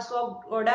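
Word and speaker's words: Škoda: स्कोडा का सही उच्चारण जहां स्कोडा है तो वहीं पोर्श का पोर्शा।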